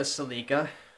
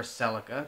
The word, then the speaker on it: Celica: We are driving our Toyota Celica, or Celica, depending on whatever way you want to pronounce the car, GT4 RC.